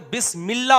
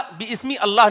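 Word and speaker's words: بسم الله: जब लफ्ज़ अल्लाह शुरू से पढ़ेंगे तो अल्लाह। लेकिन जब यह लब्ज़ अल्लाह कलाम के बीच में आएगा तो बिस्मिल्लाह होगा। बी इस्म इल्लाह बिस्मी अल्लाह नहीं होगा।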